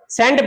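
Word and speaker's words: cent: सी का स कब बनता है? ध्यान दें सी के बाद इ आई और वाई। इ आई और वाई। सी के बाद इ आई और वाई आ जाए तो सी का उच्चारण क्या हो जाएगा? स हो जाएंगे।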